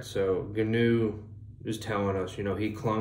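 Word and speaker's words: Ganoe: So to that, he kind of starts to, he gets a, we'll say his adjutant, I think it's pronounced GNU, it's kind of like canoe, but with a G.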